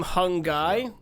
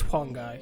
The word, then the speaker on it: Huang Gai: I don't actually mind Huang Gai. You will have a major part to Is his play. name Hung Gai? That's how we see it, but it's Huang Gai.